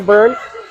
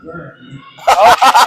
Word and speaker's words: Byrne: The E is silent, not accentuated. There's no umlaut in it. Scoring for Prior Lake was number 24, Byrne.